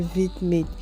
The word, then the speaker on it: VidMate: L'application s'appelle VidMate et ça s'écrit V majuscule, I minuscule, M majuscule, A, T, E.